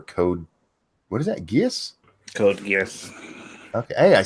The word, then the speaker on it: Code Geass: Code Geass.